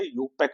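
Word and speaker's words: IUPAC: न raiding quick बोलेंगे यपक name I को साइलेंट रख के पढ़ा जाता है इसके अंदर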